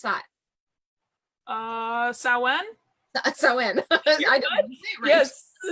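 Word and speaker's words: Samhain: Oh saw one that's Owen yes Owen is the correct pronunciation for All Hallows Eve oh no so for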